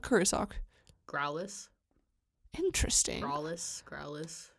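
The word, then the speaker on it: Graulas: Growlus. Interesting. Growlus. I always I give the U a little bit more of oomph. Growlus. Yeah, I noticed. Yeah. Like a growl, like a growl.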